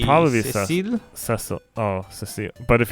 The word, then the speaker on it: Cecil: If we're going off the Japanese, French pronunciation, let's see. It would probably be Cecile.